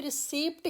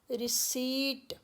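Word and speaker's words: receipt: इसी तरह से रिसीप्ट, इसको आपने बहुत सारे पढ़े लिखे लोगों को भी रिसीप्ट ही बोलते हुए सुना होगा, लेकिन प इज साइलेंट, र, ई, स, ई एंड ट, रिसीट।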